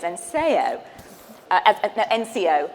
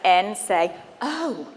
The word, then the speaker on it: Enseo: naturally read it as encseo NCO and then as I went back through and I I looked at how they presented on the website it says pronounced as n say oh so I'm like it